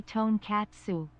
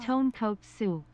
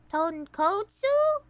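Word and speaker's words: tonkotsu: evil list Sawa Sama please don't say tone catuo that's a different food say tone coat Su ton kotu ton kotu that how you say it oh my gosh tone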